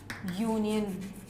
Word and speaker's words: union: about the words like a union now you know for sure U is a vowel but it doesn't start with a vowel sound whereas the word umbrella